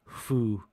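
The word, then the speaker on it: 風: it means wind but here is pronounced Fu it means Style oh they were they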